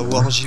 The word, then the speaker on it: WoorJ: C'est bien Wargy au final ton... Voilà, ouais, c'est ça, Wargy, ouais. Faut pas... le J, faut le prononcer.